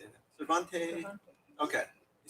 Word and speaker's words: Cervantes: I always mispronounce this philosopher's name, C0ncert. C-E-R-V-A-N-T-S. How do you say that? Cervantes.